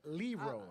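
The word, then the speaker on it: Lerone Murphy: undefeated LeRon Murphy not Tyrone not byon it's pronounced more but LeRon I got to do it for Theon City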